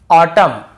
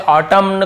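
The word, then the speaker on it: autumn: एन को नहीं पढ़ना जैसे ऑटम कॉलम डैम हाइम तो यहां पे हमें ऐसे ऑटम कॉलमन डैमन ऐसे हाइमन ऐसे नहीं पढ़ना है ठीक है क्लियर हो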